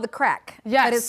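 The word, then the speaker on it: Craic: There I am with Kate, but it's pronounced it's spelled C R A I C. And crack means fun. No, crack. My producer is saying Craig.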